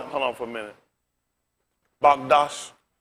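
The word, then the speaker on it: מקדש: Magdash. How you pronounce it?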